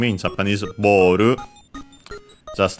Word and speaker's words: ボール: Okay, good thing we did, because instead of having the expected accent based on the English one, and so on the bo, it's unaccented. So, boru, ball.